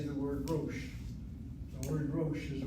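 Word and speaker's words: ראש: The aleph here is not a consonant, it's the marker of a long O sound. Rosh. Rosh.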